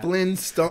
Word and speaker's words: Flintstones: You can hear the T. You slightly hear it. Flintstones. Yeah. Flintstones.